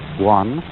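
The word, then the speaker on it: 觀: Chinese character which I drew at the beginning, pronounced guan, or quiet observation.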